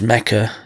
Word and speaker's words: Mecca: He does his Hajj pilgrimage in the land of Abraham, which is called Mecca, which is also called Becca. In the Bible, it's called Becca, but it's actually pronounced Mecca.